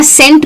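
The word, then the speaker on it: scent: लेकिन फर्क सिर्फ इतना है कि अगर ये जो सी है ये एस के बाद आता है तो वो हो जाता है साइलेंट। यानी कि जैसे मसल में आया या सीन में आया या सेंट में आया तो आप ध्यान से देखेंगे तो हम साउंड जो है ना वो स का ही यूज कर रहे हैं।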